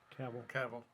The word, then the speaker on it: Cavill: Cavill, yeah.